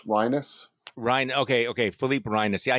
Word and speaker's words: Reines: Philippe Reines. It's pronounced more like sinus, Rhinus.